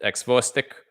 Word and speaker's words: xvostik: Xvostik. Or, oh my God, I'm an idiot. It's Russian X, so it's xvostik. Wow. Sometimes I'm so stupid, I amaze myself. So xvostik here with Shadows at 3 a.m.